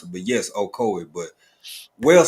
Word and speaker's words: Okoye: Yeah, that name, that is Okoye. Okoye. I was looking at it so hard and trying to click buttons. I didn't want to mispronounce it, but yes, Okoye.